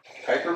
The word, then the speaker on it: Kuiper: neptune we get another asteroid belt called the kuiper belt that's how you pronounce that and then even further out it's